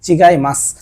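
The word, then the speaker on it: 違います: মাছ জাপানে মাছটা তেমন ব্যবহার না মাছ বলে চিগাই মাছ চিগাই মাছ মানে হচ্ছে ভুল অন্য জিনিস বা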